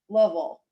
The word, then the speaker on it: Louisville: My East Coastness has been saying Louisville my whole life. And Brian Underwood says Lovell. So I've been trying that. I will see y'all there.